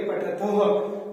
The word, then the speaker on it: पठथः: जो विसर्ग की ध्वनि आती है उसे हमें ह का उच्चारण करना है। थ के पीछे विसर्ग लगे होते हैं इसलिए बोलेंगे पठथः। फिर यहाँ पर होता है